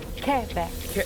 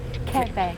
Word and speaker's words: Quebec: Quebec. Oh, see, I've been saying it wrong. Quebec. Quebec.